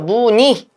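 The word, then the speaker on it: 무늬: 그래서 무니로 발음해야 되는데 두 번째 원칙에 따르면 무의이도 가능하다. 그죠? 그래서 무니로도 무의도 가능.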